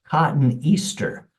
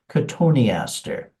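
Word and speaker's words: Cotoneaster: you might think it's cotton Easter and that's kind of a logical mispronunciation cotton Easter but actually it's pronounced konter and uh the koni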